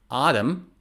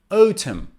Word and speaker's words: autumn: pronunciation is autumn autumn in both accents the last and the final n is not pronounced it's silent autumn autumn silent n next one